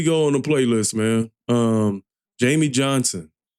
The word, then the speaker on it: Jamey Johnson: Jamey Johnson. I thought it was Jamison. I mispronounced it at the beginning.